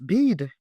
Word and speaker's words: BIID: Someone asked me about bid. That's a word I've never heard in my life. It is spelled BIID.